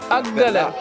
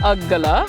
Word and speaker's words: අග්ගලා: couldn't pronounce the word I pronounced it has Akala and it's not akala it's aggala Actually, I'm going to make